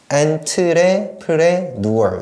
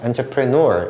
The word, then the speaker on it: entrepreneur: 자, 그런데 여기에서 이 단어가 참 중요한데 발음하기가 조금 까다롭습니다. entrepreneur 이렇게 하시거든요. 그래서 entrepreneur 이렇게 읽어주시면 되는데 이 사업가라는 말이 여기 원 뒤에도 들어가야 돼요.